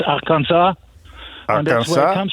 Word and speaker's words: Arkansas: It's French pronunciation. Because up till 1803, up till the Louisiana Purchase, these territories were French. And if you were French, you would pronounce it Kansas, Arkansas.